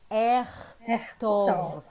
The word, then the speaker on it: אכתוב: I will write, let's say together, אכתוב. אכתוב. Yeah, there are two tricks there because k and ch interchangeable. Yeah, אכתוב. And there is an o there.